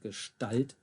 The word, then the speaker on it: Gestalt: And you might have noticed another one here in Gestalt, the ST. Almost sounds like a sh in it there. And it is.